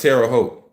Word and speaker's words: Terre Haute: The name is commonly pronounced Terre Haute.